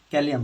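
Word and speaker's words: Kalium: ধরো লেখা আছে পটাশিয়াম পটাশিয়াম পটাশিয়াম পটাশিয়াম কে ক্যালিয়াম বলা হয় হ্যাঁ ল্যাটিনে ক্যালিয়াম ইংলিশ আর ল্যাটিন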